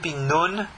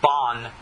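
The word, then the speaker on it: בן: being that it's spelled, this word for son, Ben, it's referred to as Ben or Ben, Bet, Nun, Ben. Ashkenazim say Bon, but that is not the proper correct way.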